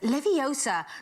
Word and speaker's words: Leviosa: someone's eye out besides you're saying it wrong it's Leviosa not living I'm sorry I did